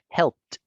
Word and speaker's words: helped: Automáticamente mi canal o mis cuerdas vocales o el viento que yo estoy haciendo, como no tengo vibración, no me impide pronunciarlo con una T. Helped.